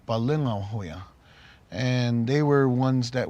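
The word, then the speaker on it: Palöngawhoya: in our culture, and the older brother's name is pronounced Bukonghoya, and the younger brother Balongahoya.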